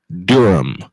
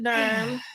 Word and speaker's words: Durham: to what I said it is pronounced Durham I guess that's part